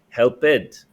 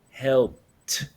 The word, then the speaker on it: helped: independently and said help helped Joyce guys imagine there's a t don't say help bit no work it no cook it no help everyone repeat helped helped cooked